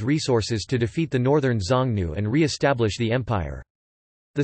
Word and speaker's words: Xiōngnú: The Chinese characters are pronounced as Xiongnu jnu in modern Mandarin Chinese.